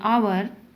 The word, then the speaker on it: hour: Example: an owl, an elephant, an hour, here h is silent, an MLA, an SHO.